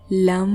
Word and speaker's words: लं: जैसे लम लम लम जीभ को तालू से लगाकर ल वर्ण का उच्चारण और दोनों होठों को मिलाकर म वर्ण का उच्चारण लंबे समय तक करना है।